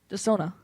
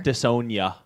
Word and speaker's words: Desona: And now we're pronouncing it correctly. Desona. Desona. How was I saying it before? Desonia. Desonia. Woo!